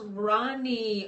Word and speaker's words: Ronnie: And so since my hair has been up, oh, it's pronounced Ronnie. Oh, okay. Yeah, just like my aunt.